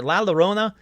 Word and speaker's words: La Llorona: nightgowns and it's everywhere la Llorona look I said it right that time sorry I didn't say right on the episode geez people la Llorona is about a woman